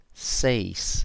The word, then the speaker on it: seis: So if you think it is siete, then well done, because that's exactly how you pronounce it. Siete, seis, siete, seis, siete. Okay, so that's how the E and the I are pronounced in Spanish.